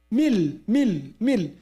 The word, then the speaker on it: من لدنه: مل.